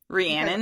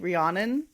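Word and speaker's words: Rhiannon: Rian. I Okay. I always say like Rihanna. So, but Rian um and so then we'll go.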